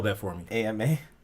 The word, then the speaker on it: Ama: spell that for me ama i've been messing up ama this whole time like llama i'm a llama yeah